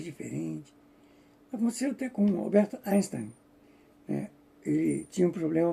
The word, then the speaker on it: Einstein: depois como Einstein ou Einstein, né? Eu é Einstein é um um nome de origem alemã. Apesar dele ser judeu, eh, não se pronuncia Einstein, é Einstein.